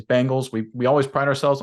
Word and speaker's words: Bengals: your name correctly herb caught me saying Bengals instead of Bengals that's wrong that's my bad the correct pronunciation is Bengals we we always pride